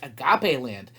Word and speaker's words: Agape Land: and their adventures in Agape Land. Yes, it's pronounced Agape Land, not agape. Ask your mommy and daddy what agape means. Doesn't mean Agape Land.